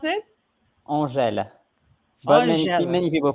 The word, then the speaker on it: Angel: But his name is actually, how do you pronounce it? Angèle. But Angel. many people call me Angel.